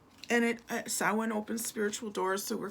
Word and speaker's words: Samhain: And then 9 is Samhain, and that's how that word is pronounced. A lot of people don't know how to pronounce that word because it's a Gaelic word, and I'm Irish too.